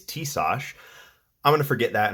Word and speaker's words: Tisas: stack 9mm 1911 I could this is the t- sauce 1911 carry double stack I looked up how to pronounce the company name apparently it's tsos I'm going to forget that and probably pronounce